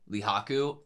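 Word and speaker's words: Rihaku: for his age laak how how do you pronounce it Le Haku leh Haku is right not too far away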